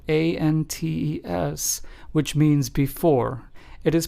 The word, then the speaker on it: antes: And it is pronounced with the a in the English word aha.